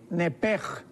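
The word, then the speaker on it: nephesh: Esta palabra alma en el hebreo es nepesh, pero la CH en el hebreo se pronuncia como J. Entonces podríamos decir nepej, con J.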